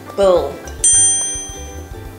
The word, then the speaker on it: build: Build. Build. Many people often say build, but to pronounce it correctly, we should say build with the short I sound.